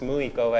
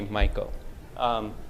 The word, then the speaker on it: Michael: And next to him is Miss Michael, not pronounced Muiko as Siri does. Every time I call, it says, calling Muiko, but it's actually Michael.